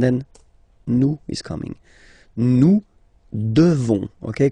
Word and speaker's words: devons: Nous devons, okay? Classic ending, ONS for nous, okay? You just pronounce this on, O-N, this nasal, okay? And then the S, final S is not pronounced.